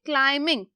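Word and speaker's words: climbing: हो गई kilo metre अब जो बी है ये बी क्या है यहां पर साइलेंट बहुत बहुत से देखिएगा ये बी है साइलेंट बी की आवाज नहीं आएगी सो हमारा होगा वन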